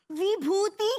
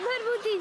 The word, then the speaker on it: Vibhuti: Bharbhuti. It isn't 'Bha', but 'Va'! 'Bha!' Are you deaf? It is 'Bha', now 'Va'. His name is Vibhuti. Enough, mom! Angoori pronounces 'Va' as 'Bha'.